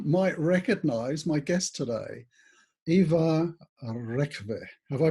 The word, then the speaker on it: Ivar: some of you might recognize my guest today eva have i pronounced that correctly that's correct and ivar is